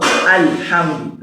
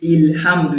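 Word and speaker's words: الحمد: So it becomes what? Alhamdu. Look at Surah Al-Fatiha now. It's not possible to say Ilhamdu.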